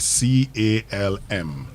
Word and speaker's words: calm: C A L M C A L L M. Calm. Yeah. There's nothing like calm. The L is Yes, it is calm. Be calm. Do not pronounce the L.